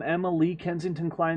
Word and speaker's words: Emma Lee Kensington Klein: university apparel i am emma lee kensington klein the younger the part spelled lee is silent and emma is accepted on the second syllable and my kensington climbed